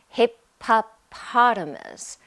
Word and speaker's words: hippopotamus: have a hippopotamus hippopotamus it is kind of hard to say hippopotamus okay stay with me hip-hop potamus five syllables hippopotamus if you want to